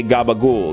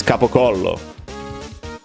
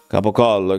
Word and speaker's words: capocollo: yeah, that's exactly why you guys say gabagool. Because it's capocollo. Capocollo, capocollo, capocollo, gabagool.